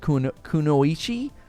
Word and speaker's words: kunoichi: So we looked this up, and it's actually pronounced kunoichi, kind of like that.